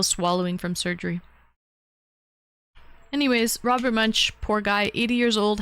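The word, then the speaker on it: Munsch: Robert Munch, the the children's book.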